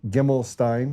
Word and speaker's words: Gimelshteyn: And it's Gimelshteyn. I said that right, 3 syllables.